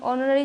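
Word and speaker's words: honorary: magistrate है तो यहां पर देखिए एज जो है साइलेंट हो जाता है और हम होनोर नहीं नोरी पढ़ते हैं तो यहां पर ओ आ जाता है तो ओ का जैसे ही यहां पर उच्चारण आता है तो यह बन जाता है इसकी साउंड जो होता है नरी तो अ से स्टार्ट होने लगती है यानी हम ऑनरी जब लिखेंगे तो अ आ जाएगा जो कि एक वॉवेल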